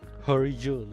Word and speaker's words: He Rijun: Horijun. Yeah, that's how you pronounce it.